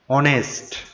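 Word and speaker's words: honest: তারপরে এখানে অনেস্ট, এইচ আছে কিন্তু এইচ এর উচ্চারণ হয়নি, এখানে বাউলের উচ্চারণ হয়েছে, ওর উচ্চারণ হয়েছে অনেস্ট, তাই আমরা এখানে এন লিখব, এন অনেস্ট, এখানে অবশ্যই এন হবে।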